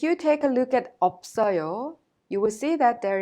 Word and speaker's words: 없어요: When you pronounce them, you pronounce the first one as it is, and the second one is prolonged to the next syllable or vowel. So, in simple terms, the first final consonant 비읍 in of 없어요 makes the up sound, and the second final